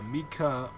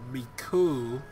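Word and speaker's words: Mikau: ground and it happens to be uh uh Mika Mika or Miku oh my I don't know how you pronounce his name because it's spelled m-i-k-a-u and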